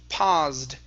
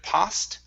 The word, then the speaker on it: paused: uh the word is paused give me a voiced s here instead of past it's paused one more time paused